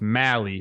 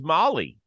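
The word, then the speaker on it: Albies: I also want to see Atlanta Braves before we go on it's Mally rhymes with rallies I'm learning all the names for sure yeah but I thought it was Molly for the longest time this is what I've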